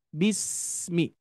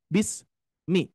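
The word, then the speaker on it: بسم: rohhwah dan juga Hames Bismi harus mengalir jangan sampai bis Mi bis Mi ya Tapi bis harus mengalir dulu ya Bismi Terus yang kedua Bapak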